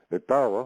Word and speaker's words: Etowah: Etowah is the Anglicization of the Muskogee Creek pronunciation Etowah, which means principal town, which is derived from